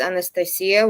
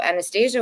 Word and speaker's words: Anastasia: So Anastasia would be na but there's a thing that you say in Russian which is the sound yah which a lot of people cannot pronounce. So they say nasty.